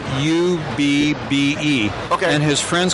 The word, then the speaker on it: Ub: i worked actually his name was originally spelled u-b-b-e and his friends called him abby but after a while for professional purposes on the films themselves he shortened it to ub ub i've pronounced iworks i-w-e-r-k-s almost like an